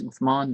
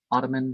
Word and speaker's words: Uthman: and there's no it's it's uthman not ottoman or you know Medina